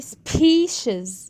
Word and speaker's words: species: family memory necessary species طبعا هنا حرف الاي جاي species. اوكي، وما ننساش ان السي اي اتنطقت ش، وحرف الاس اللي في الاخر اتنطق زي.